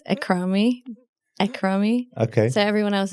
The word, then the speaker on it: Akrami: Akrami, welcome. Thank you. Did I pronounce that right?